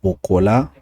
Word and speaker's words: Bokola: Donc là, c'était la réponse du Maître Bokola, si je peux me le permettre, c'est comme ça on prononce son nom.